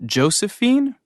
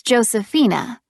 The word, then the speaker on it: Josefina: Is your first name Josephine? Actually, it's Josephina. It's spelled Josefina.